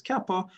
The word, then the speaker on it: Kappa: and bjective function the Kappa so this pronoun pronounced as Kappa which transforms coordinates so transforms one coordinate right